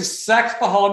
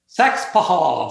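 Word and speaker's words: Saxapahaw: S A X A P A H A W. But we don't pronounce all the consonants or we we leave a few of the syllables out.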